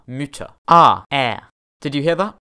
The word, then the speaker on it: Mütter: chern meaning beautiful motta muta ah did you hear that the vowel sound changed with the addition of the umlaut there was a sound